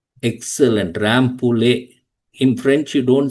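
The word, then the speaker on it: Rambouillet: Anyone rampul? Yeah. Not pullet. It's a French name. Ramp castle. Excellent. Rample.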